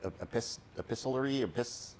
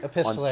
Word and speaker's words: epistolary: But what they did is, because it's, I don't know how to pronounce the word exactly, epistolary, It's the book is made up of letters, right, that are written on Epistolary, certain yeah.